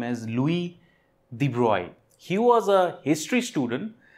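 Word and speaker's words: Louis de Broglie: a physicist known as Louis de broy Lewis the brogli but that is how we pronounce it but he was a French scientist and the way to pronounce his name is Louis the broy he was a history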